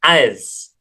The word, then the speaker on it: as: Jadi kalau yang ini, S-nya itu pronounce Z.